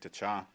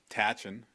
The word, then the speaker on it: Tachan: Day ceremony with Frank Tachan. Tachan is how everybody pronounces his name in English, but little Dakota lesson here, it's Tachan.